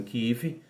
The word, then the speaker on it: Kiev: uma região ali em Kiev ou alguns pronunciam kiv onde 30.000 judeus 30.000